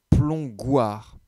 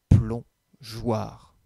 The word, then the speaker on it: plongeoir: a rajouté un e imaginons sur le mot plongeoir que nous enlevions la lettre e dans ce cas là on sait qu'après un os le g se prononcent go et donc on lirait un plomb gouard et donc c'est pour cela qu'on rajoute le e pour que l'on puisse lire un plomb jouarre maintenant il est l'heure